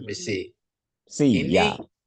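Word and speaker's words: ψῖ: Ini psi ya, bacanya psi.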